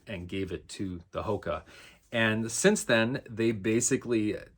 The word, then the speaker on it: Hoka: inhabited by a race of creatures called the Hoka h-o-k-a could be hookah no it's definitely Hoka hakka Hawkeye I don't